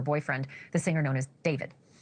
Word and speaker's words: D4vd: Celeste Rivas Hernandez and her rich and famous and much older boyfriend, the singer known as David. While his stage name is spelled with a 4, his legal name is David Anthony Burke, plain and simple.